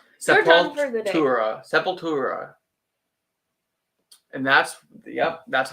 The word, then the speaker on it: Sepultura: Sepultura.